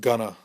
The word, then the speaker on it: going to: And of course, going to, most Americans, when they speak quickly, it's pronounced gonna. So going to, gonna.